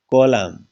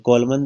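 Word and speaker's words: column: नहीं यह ऐसे हैं कॉलम क्या है यह कॉलम तो इसमें क्या है लास्ट में कोलमन तो नहीं बोलते इसको अन का उच्चारण नहीं होता अन साइलेंट होता है क्या लिखा जाता है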